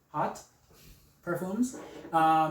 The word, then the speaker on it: Haught Parfums: So Don't Touch Me Tomato is by Haught Parfums. How it's written, it's pronounced really weird. So it's Haught, pronounced Haught Parfums.